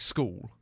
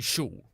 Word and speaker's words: school: Like when you get an SCH at the end of the word is when you get that sh sound. But for me, if it's at the beginning of the word, it's like school. Otherwise it'd be shul, which is dumb.